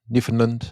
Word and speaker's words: Newfoundland: Now, how do you pronounce is Newfoundland? Newfoundland.